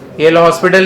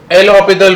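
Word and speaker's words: L'Hôpital: चलो ये लिख दो अरे एल हॉस्पिटल नहीं है। एल हॉस्पिटल है। एस साइलेंट है। ठीक है? तो एल ह ऑपिटल रूल।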